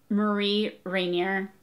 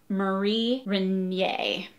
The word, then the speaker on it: Marie Rainier: So I think I would have pronounced her name Marie Rainier, and it's Marie Rainier because it's perhaps French. It is French, I think.